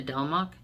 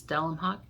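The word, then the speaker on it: Delemhach: the house Witch by delmach and sorry delmach d-e-l-e-m-h-a-c-h it's hard for me to pronounce dellenhawk I think is how it's pronounced anyway this book was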